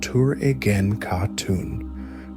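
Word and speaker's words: Töregene Khatun: Following Ogedei's death, the empire was nominally ruled by his widow, Turagin Khatun, pronounced Tur-egen Khatun, who acted as regent.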